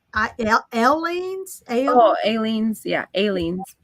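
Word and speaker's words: Aleene's: It's not Eileen's. It's Aileen's.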